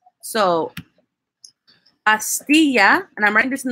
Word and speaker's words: pastilla: it's going to have like a Y sound, like a Y. So, pastilla, and I'm writing this in the group chat for you guys, will be pronounced as pastilla.